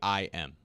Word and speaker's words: Haim: Haim. Yeah, Haim. Like the first syllable. They're Hyman.